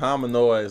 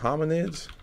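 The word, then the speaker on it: hominids: Is it homoid? I'm saying it wrong. Humanoids. N uh homminids. Okay. Boom. Homminids.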